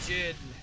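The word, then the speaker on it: Djinn: And then the Jinn. Forgot the D is silent. I'm used to Jinn as in genie.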